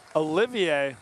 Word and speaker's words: Olivier: Number 31 on the Balboa Bay is Spencer Olivier. Olivier? Yes, the French pronunciation.